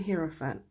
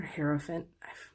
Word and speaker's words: Hierophant: So you guys have the Ace of Swords, the Justice card, and the Hierophant, or Hierophant. I swear there's like so many different pronunciations.